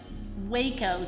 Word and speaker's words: Waco: who instructed military pilots in WACO, Texas. That does not rhyme with taco.